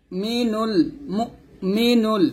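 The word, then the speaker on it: الْمُؤْمِنُ: এরকম মু ও মি আমরা অনেক কি বলি এখানে মু ও বলি মানে হামজার উপরে পেশ দিয়ে পড়ি এটা করা যাবে না ক্লিয়ার করে পড়তে হবে মিম হামজা পেশ মু এরকম আল মালিকুল কুদ্দুসুস সালামুল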